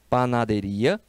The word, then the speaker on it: panadería: Esta palavra tem aqui um acento. Panaderia.